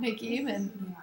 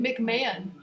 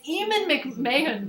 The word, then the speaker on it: Eamon McMahon: some reason, this guy Scott McEaman, no, how do you say it? McMahon. It's Eamon McMahon.